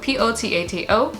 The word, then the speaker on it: Potato: potato spelt like potato p-o-t-a-t-o but it's a portuguese name it's a portuguese origin so you would pronounce it potato and that's uh yeah